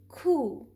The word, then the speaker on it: coup: K, oo, here P is silent and the word is coup.